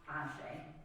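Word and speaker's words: Àṣẹ: Ashe, or Ashe, pronounced Ashe, is a West African philosophical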